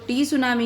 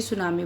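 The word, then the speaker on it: tsunami: बच्चों, मैंने आपको बताया था सुनामी इसको प्रोनाउंस करते हैं, तो आपको याद हो गया ना, इसको टी सुनामी नहीं बल्कि सुनामी बोला जाता है।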